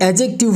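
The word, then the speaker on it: adjective: ये नाउन हो गया ये एडजेक्टिव हो गया यहां पे ये जो डी है ये साइलेंट है इसके बाद हमारे पास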